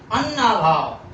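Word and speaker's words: अन्नाभाव: अब इसको उच्चारण है अन्ना भाव, तो देखा आपने बड़े आ की मात्रा पर बलाघात हो रहा है, जोर पड़ रहा है।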